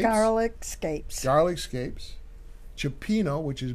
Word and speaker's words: garlic scapes: With how do you pronounce it? Scapes? Garlic scapes.